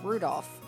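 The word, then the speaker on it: 留弗夫: on it's just anyway this guy's name is pronounced rudolph ha he must hate grandfather for giving him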